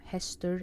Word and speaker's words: hestur: slide, when nouns end with U, R, sometimes it just fades away a little bit, but hestur and glavur, hestur, glavur, it's hard to point out what exactly it is that Faroese people are pronouncing, but just know that it's spelled like UR, even though you might not hear that it is.